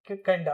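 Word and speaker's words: kinda: ठीक है, लिखेंगे तो आप वैसे ही लिखेंगे, लेकिन जब प्रोनाउंसिएशन की बात आए तो आप इसे काइंड ऑफ को क्या प्रोनाउंस करेंगे? किंडा। क्या बोलेंगे?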